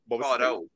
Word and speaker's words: Varo: Varo. Varo? Yeah. Like Pharaoh, but like Swedified.